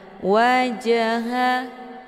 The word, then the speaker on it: وجهه: Jim sukun yang terdapat di pertengahan kalimat dinamakan dengan qalqalah sughra. Cara bacanya, huruf jimnya dipantulkan dengan pantulan ringan. Wajah, keluar bunyi je sekedar saja.